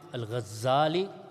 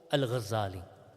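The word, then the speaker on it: Ghazali: stages in his life Abu Hamed alali or Al gazali both pronunciations are mentioned with respect to him so Al gazali then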